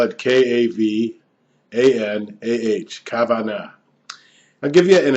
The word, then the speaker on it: kavanah: This video is about the concept in Judaism of kavanah, which is spiritual intentionality. In English, you might spell it K-A-V-A-N-A-H, kavanah.